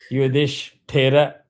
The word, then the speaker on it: Yudhishthira: You can chant these keywords, take those key combination Yudhish Yudhish and then say Thira. And one other key rule that I've given which you can follow very confidently is any of the half syllable you try to take it with the full syllable ahead of it. So, here issue will come with D. Yudhish that frees you up for Thira. Yudhish Thira that is the trick.